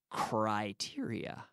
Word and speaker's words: criteria: in English we say criteria criteria now be careful with the pronunciation we say cry not cookie but cry like oh I criteria criteria ok Willem